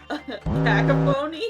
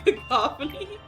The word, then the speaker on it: cacophony: I watched I was watching a video and someone pronounced it kacapony. A kacapon instead of cacophony which to be fair if you look at that word it does look like it should be kacapon.